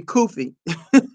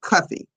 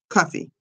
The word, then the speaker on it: Cuffee: Sometimes you have trouble pronouncing that last name, but it's pronounced Cuffy. Cuff, like a cuff, like a cuff. Cuffy. Cuffee.